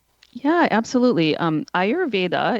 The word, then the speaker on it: Ayurveda: Um Ayurveda it's spelled for people who don't know a Y